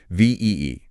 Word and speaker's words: VEE: let's set the stage ve and that's pronounced V has been Making Waves